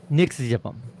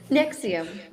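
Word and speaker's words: NXIVM: Tonight we tell the story of Nixam. I said that wrong. How do you pronounce that? Nexium. Nixium. I was so close.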